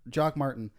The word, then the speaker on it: Jacques Martin: one sort of name atop the list, because Jock Martin is interim right now.